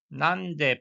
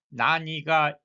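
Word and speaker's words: 何: 마지막에 왼쪽 노시대 또 왜 그런가요라고 물어볼 때 난데 파티니 났단됐을까 왜 파티에 안 오셨나요 이럴 때는 나은 난이라고 불 읽어야 합니다. 나니가 읽으시면 안 되죠.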